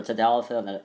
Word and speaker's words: tadalafil: Vardenafil, don't really know, but I have something for tadalafil and avanafil. So tadalafil, tad rhymes with pad, sounds like lily pad.